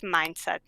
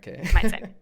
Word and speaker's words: mYindset: By the way, that's how you say it. It's just mYindset, like mYindset. So it's very easy, just hard to write.